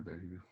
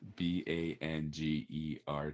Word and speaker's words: Bangerter: Uh, b a n g er t e er. Yeah, you're right. Good job. Just seen it so many times. But we still still sounds like banger.